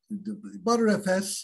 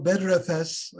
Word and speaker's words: Btrfs: So ButterFS or BetterFS, you know, the pronunciation depends on who you ask, I suppose.